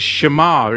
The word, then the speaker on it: שמר: God, the Hebrew word for God is Shamar. It's spelt with a Shin Mem Chresh.